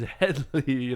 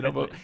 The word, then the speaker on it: Hedley: The funny thing is, in the movie, they talk about it all the time, where people missay his name. They say Hedy. It's like, it is Hedley, Hedley.